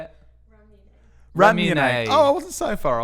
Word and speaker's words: Ramune: Ramune.